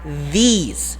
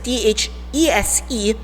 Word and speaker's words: these: it's plural we have these okay take off take note of the pronunciation if it's the t-h-i-s it's this this this but if it's t-h-e-s-e you would have to smile for it these these okay now